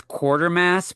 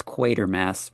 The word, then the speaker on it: Quatermass: I always read it as Quartermass, but in this movie they actually pronounce it as Quatermass.